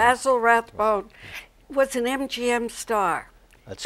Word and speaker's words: Basil Rathbone: Basil Rathbone. Basil Rathbone was an MGM star.